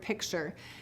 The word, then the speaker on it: picture: uh a new sound if we were to say pick T just like it's um written pick T and then say it faster and faster picture picture picture you hear that t changing into a CH sound so we will say